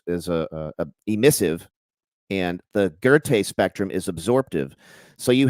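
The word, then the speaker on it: Goethe: was a guy 125 years later named Johan gerte g e t he e spelled goth but it's pronounced ger and uh he discovered that there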